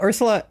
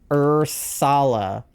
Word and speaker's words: Ursala: Ursula. Oh, it's Ursala with an A. It's spelled different. It's Ursala. It's a It's a like a pink bear.